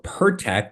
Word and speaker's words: PIRTEK: Yeah, so what you are saying PIRTEK correctly.